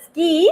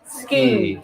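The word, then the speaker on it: 好き: one is uh yeah it sounds like the ski it's also so social very easy to remember okay even though it's uh romaji is s-u-k-i it's pronounced as skin okay so you can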